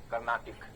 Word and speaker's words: Carnatic: It is pronounced Carnatic. That is a better substitute. Carnatic.